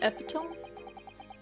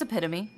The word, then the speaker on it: epitome: my Bane isn't it epit no it's epitome that's